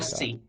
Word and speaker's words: lassi: Lassi. Yeah, it rhymes And with your name.